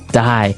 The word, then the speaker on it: dye: Dye. So, it's pronounced exactly the same way as, you know, to die to not live anymore.